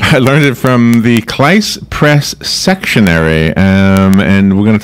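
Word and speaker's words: Cleis Press: Kleiss Press, we're based in Jersey City, so right next to New York. Thank you for correcting my pronunciation. Kleiss Press, okay.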